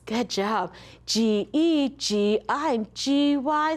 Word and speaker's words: soft G: And soft G is spelled G-E, G-I, G-Y, and D-G-E. And they all make the J sound like the jump card.